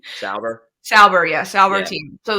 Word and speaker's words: Sauber: Sauber.